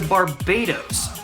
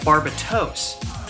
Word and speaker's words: Barbatos: titular mobile suit itself in the Japanese dub it appears to be pronounced closer to Barbados which is a country your grandmother went to last year blowing your inheritance on a cruise or whatever it should be pronounced closer to Barbados which is an Earl in Duke of Hell demonology records such as